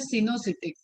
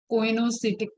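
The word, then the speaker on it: coenocytic: इसको प्रोनाउंस करते हैं सिनोसिटिक, कोइनोसिटिक नहीं, सिनोसिटिक कंडीशन।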